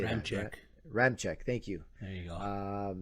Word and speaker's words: Ramczyk: Ramczyk, thank you.